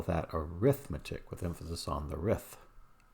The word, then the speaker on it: arithmetic: of sequence it is it's called arithmetic with the emphasis on math but if it's an operation or a set of operations you do we call that arithmetic with emphasis on the